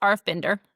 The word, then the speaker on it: RF Binder: It's Arf Binder.